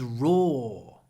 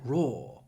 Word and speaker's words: raw: fish is raw or Americans would say raw but British English raw he eats raw eggs and here raw eggs in British English you can hear this linking r because when I say raw raw floor it's the same or sound so you can find